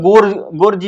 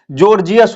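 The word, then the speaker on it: Gorgias: है जॉर्जियस पढ़ना है बहुत सारे लोग गो गोर्ज भी पढ़ सकते हैं पर इसका उच्चारण जो होता है जॉर्जियस होता है इसलिए आपको इसको जॉर्जियस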